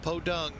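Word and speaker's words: Pudong: Not the Podung, I believe is how you say it, but the original Shanghai, where Pan Am flew.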